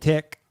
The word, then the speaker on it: Tech: considering picking up wrecker and tick because uh that's supposedly how you say his name apparently and it's exactly so it's like a TD accent that's what it sounds like it doesn't matter it's kiwi oh okay yeah no